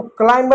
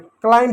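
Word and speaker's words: climb: इसको क्लाइंब नहीं पढ़ते हैं। क्लाइम पढ़ते हैं।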